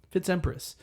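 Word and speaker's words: FitzEmpress: Like think of Fitzpatrick. Fi TZ and then you start with a new uppercase letter Patrick. It's that but it's Fitz and then Empress spelled like Empress. Huh? Fitz Empress.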